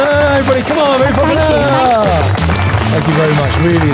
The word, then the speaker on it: Jenni Falconer: Ladies and gentlemen, it's the one and only, let's pronounce it correctly, it is Jenni Falconer. Jenni Falconer, everybody, come on, Jenni Falconer.